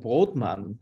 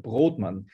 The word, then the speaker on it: Brodmann: than 200 years back Mr broadman as we pronounce it in in Austria Mr broadman he came from Germany